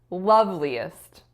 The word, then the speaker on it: loveliest: don't remember now but it should have been the first loveliest loveliest so the stress falls on the first syllable the next word I